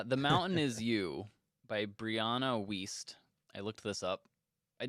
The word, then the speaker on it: Brianna Wiest: get this one right so it's brianna wiest is how she pronounces it anyway uh the mountain